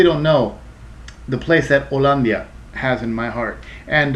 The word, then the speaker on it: Hollandia: know the place that Olia has in my heart and uh notice you guys might pronounce it as hollandia hollandia I don't know um but we call it by the Spanish pronunciation Olia because I am